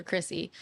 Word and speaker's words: Kryssy: people look it up it's k r y SS y for Chrissy and if you just type that in the rest come up it's just Chrissy music okay so